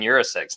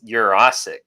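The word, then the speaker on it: Yurosek: and for the fans we've been pronouncing Ben Urus seex name wrong it's your OIC so that is going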